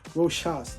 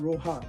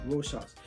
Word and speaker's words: Rochas: Rochas, not Rojas, Rochas.